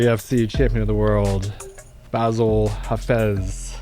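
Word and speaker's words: Bassil Hafez: champion of the world basil hafez yeah you said it right all right let's go all right let's go we'll see you're the first person to pronounce my name the correct way on your own full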